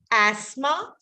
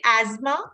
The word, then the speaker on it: asthma: So both th, th is not there. So your wish, whether you want to say asthma or you want to say asthma, both are fine, right? But the th should not be there.